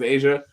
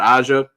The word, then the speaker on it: Aja: Hopefully it is Asia, not Aja.